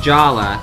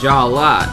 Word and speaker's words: Jala: And I think Jala, as mentioned by another user, it's Jala, not Jaller. It looks like Jaller, but it's pronounced Jala. That's how it was pronounced in Bionicle Mask of Light.